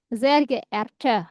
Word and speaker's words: Sehr geehrte: Kalau yang formalnya, Apa ya bacanya Gerarte? hmm, betul ya, richtig. Sehr geehrte ya.